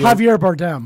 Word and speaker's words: Javier Bardem: that just came out starring jennifer lawrence and jarvio bar how do you say his name javi javier bardem yeah yeah yeah yeah yeah yeah what he